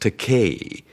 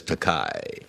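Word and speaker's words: Takei: way of doing that I said bill it's pronounced teay it rhymes with tupe I thought that would do it no it just lies there and he still says takai if it was me I would have start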